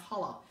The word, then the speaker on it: challah: is hollow it's perfect it's spelled chal lah but it's pronounced hollow it's an egg bread